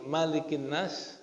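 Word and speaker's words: مَلِكِ النَّاسِ: Tapi kalau annas alif dibuang bacanya pendek. Nah ini berarti Malikinas enggak ada alifnya dan enggak boleh dibaca panjang.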